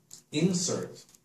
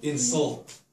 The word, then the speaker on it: insult: Not insert. Ah. Insult is hard pronunciation. Please, once more, the pronunciation. Insert. Insert. INSERT is like insert. on the computer. Insert to put in. I insert the money Right. Insert. into the vending machine. Insert coin. Not insert. Insult.